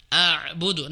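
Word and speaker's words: أعبد: A'budu na eh bukan na'budu ya a'budu misalkan la a'budu a'budu terkadang orang membaca ain semua maka dia baca la a'budu begitu jadi ain semua padahal harusnya a plus ain sukun a a a a nah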